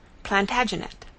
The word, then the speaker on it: Plantagenet: covered with his visor the Latin name for broom is plantag genista and gradually it came to be pronounced plantagenet although Jeffrey was French he